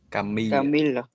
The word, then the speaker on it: Camille: Camille Mais Camille, Camille. I de Zalern entre I. Ça se prononce I. Ce n'est pas il.